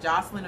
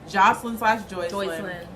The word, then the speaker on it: Joycelyn: How did she pronounce it? Jocelyn or Joycelyn? Joycelyn.